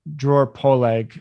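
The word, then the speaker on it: Dror Poleg: on my podcast he he runs the newsletter drawer poleag um i know it's hard to pronounce d-r-o-r-p-o-l-e-g dot com and he sees nfts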